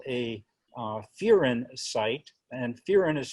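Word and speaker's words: furin: And this site is called a Fearin site, and Fearin is spelled F-U-R-I-N.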